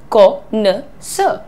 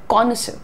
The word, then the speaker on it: connoisseur: द pronunciation is connoisseur, connoisseur, right? Simple.